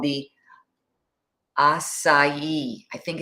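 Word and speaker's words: açaí: And then I sounds like E. Oh, acai. Yeah. Okay. But a lot of people say acia.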